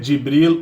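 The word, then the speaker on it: جبريل: Em árabe é Jibril ou Jibrail. As duas pronúncias servem em árabe.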